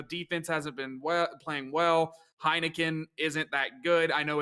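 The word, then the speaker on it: Heinicke: to t though defense hasn't been playing well heineken isn't that good i know it's heineke i say heineken i don't think i don't think i don't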